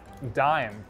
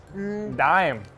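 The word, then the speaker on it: Daim: some is this chocolate i think it's pronounced dime damn damn oliver ashkev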